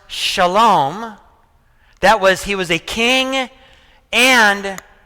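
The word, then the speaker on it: Salem: Melchizedek was a king and a priest of what's pronounced Shalom. That was the name of the city. It's pronounced Shalom.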